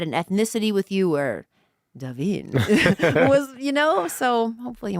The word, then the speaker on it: Davin: is a cool name it's beautiful right but davin davin's also look it's a pronunciation i don't know i'm hispanic so a